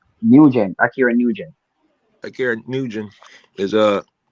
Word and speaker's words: Nugent: Nugent, Akira Nugent.